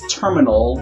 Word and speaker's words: Termina: never pronounce that correctly it's like terminal but the land so it's termina terminal